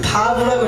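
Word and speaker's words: ו: 그 다음에 다음 글자를 보시면 이것은 바브라고 읽습니다. 다시 한번 읽어볼까요? 바브라고 읽는데 이것은 꽝꽝 박는 못을 뜻합니다.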